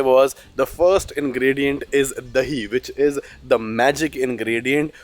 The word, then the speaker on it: dahi: To do so, we need basically the ingredients that are here, a couple of masala spice, the dahi. Did I pronounce it correctly?